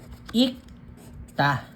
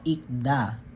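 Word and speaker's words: 익다: yung kayok okay so ang basa ik ta ikta ikta hindi po hindi po ikda ang tamang basa or the proper pronunciation is ikta ta ikta.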